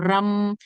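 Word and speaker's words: रं: इसका जो अगर आप मंत्रा देखेंगे तो रम होता है, RAM होता है, राम जैसा होता है, लेकिन उसका उसका प्रोनाउंसिएशन रम, यानी र में आपको थोड़ा सा उसको स्ट्रेच करना है, रम।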